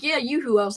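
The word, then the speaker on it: Yoo-hoo: I used to call it yahoo cuz I didn't I didn't know about the pronunciation. And then I think someone was like, "Yeah, yoohoo."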